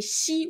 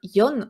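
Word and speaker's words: 四: c'est pour ça que le chiffre 4 en japonais porte malheur parce que du coup se prononce comme la mort donc si et si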